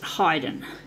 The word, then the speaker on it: Haydn: the seasons by Haydn Hyden actually I think that's how it's pronounced my dad is into classical music and that was how dad used to pronounce it hiden so yeah it's been